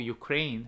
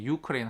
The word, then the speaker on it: Ukraine: of Ukraine 했으니까 second syllable이고요. 자꾸 저도 모르게 유크레인 한 해버린다 자꾸.